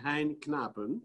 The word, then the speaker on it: Hein Knaapen: So the correct pronunciation is Hein Knaapen.